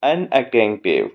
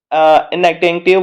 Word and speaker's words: inattentive: Don't leave your basket अनअटेंटिव। मतलब इनअटेंटिव, वो actually अनअटेंटिव का प्रोनाउंसिएशन आता है, but that is actually इनअटेंटिव।